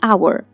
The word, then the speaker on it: hour: a vowel example an hour hour begins with the consonant letter H but the H is silent here and when you speak it sounds like our that is the vowel